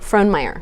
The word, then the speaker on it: Frohnmayer: your last name so how do you say the last name Frohnmayer front layer I was going to pronounce that something completely different German last name yes it is a German name okay and just Fittipaldi